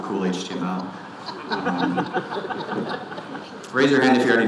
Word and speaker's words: KHTML: environment HTML rights over k HTML you have to pronounce it cool HTML raise your hand here